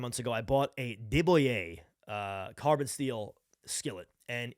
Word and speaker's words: de Buyer: if you're in the market for cookware get a diboye which is spelled D e space b-u-y-e-r for the Gringos out there it's da buyer that's how it's spelled go get yourself a